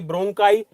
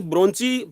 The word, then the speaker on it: bronchi: देखिए ब्रोंची ब्रोंकाई इसको कुछ भी बोल लीजिए, इट्स डिपेंड ऑन यू। आप अपनी अपनी लैंग्वेज में इसको अलग अलग बोलते होंगे, लेकिन आपको स्पेलिंग गलत नहीं करना है, ठीक है। BRONCHI, ठीक है, ब्रोंची, ठीक है। ब्रोंकाई भी आप इसको बोल सकते हैं।